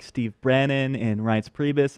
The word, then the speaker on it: Reince Priebus: like Steve Bannon and Reince Priebus, it's not a good sign. You say Reince, right? I always get that wrong. I say Reince Priebus, like I want to rinse my hands of the insanity that is Reince Priebus.